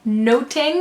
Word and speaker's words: noting: isn't it yes it's much to do about noting which is pronounced the same at the time as nothing and that means like